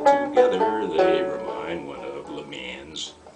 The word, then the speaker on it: Le Mans: they remind one of Le Mans. That's the American pronunciation. Le Mans.